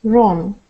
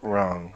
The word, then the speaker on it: wrong: W is not pronounced at the beginning of a word followed by an R. Rap, right, wrong. Okay, good. Rap, right, wrong.